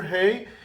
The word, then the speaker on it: ה: write and now we will learn the letter Hey okay the letter hey is supposed to be pronounced like hey okay this is the correct